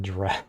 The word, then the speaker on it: draught: Draft. Ye oldies. It's pronounced draft despite the spelling.